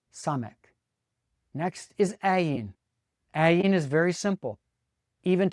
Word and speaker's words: Ayin: Once again, we come to a word that starts with a guttural consonant that we don't use. Therefore, what we usually pronounce first is the vowel. The vowel that comes after it, it's a short a-class vowel that makes the a sound.